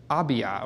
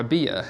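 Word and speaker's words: Abijah: and if you notice number eight right there is abiya or abia however you want to pronounce that and we talked about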